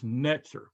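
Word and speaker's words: נצר: branch and it's noon saudi resh okay that's netzer okay the the saudi is a t z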